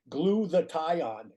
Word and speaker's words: glutathione: You know, we got used to have to tell people, you know, gluathion just so they could pronounce it properly.